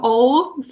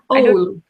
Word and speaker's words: Oulu: Your city is not called Oulu. You're pronouncing it differently from me. Oulu. Oulu.